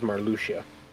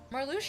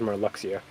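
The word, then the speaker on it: Marluxia: And it was Lexus, but it was the biggest one was Marlucia. Marluchia. I always knew that one for some reason was intuitive for me. Yeah, I always thought it was more Luxia, but anyway, regardless, when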